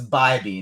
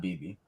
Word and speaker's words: Bybee: I got a message from Dean before we go any further that says we are killing him because it's Bybee, not BB.